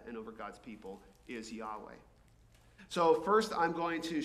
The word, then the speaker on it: Yahweh: normally translated as Lord, but it's pronounced Yahweh, as near as we can tell, because the Jews stopped saying it so long ago that we're not entirely certain.